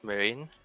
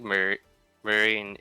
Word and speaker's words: Merijn: Looks like Marine, M-E-R-I-J-N. Yeah. I'm kind of just pretending that the J-N is a G-N. Just pronounce it as a mage.